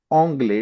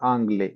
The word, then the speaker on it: anglais: For example, anglais. It's not anglais. It's anglais. Okay.